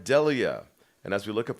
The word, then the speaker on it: pareidolia: How do you pronounce it again? Pareidolia. Pareidolia.